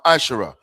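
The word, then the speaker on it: מעשר: Malachi 3:8-10, which means 10th in the Hebrew and is pronounced masher.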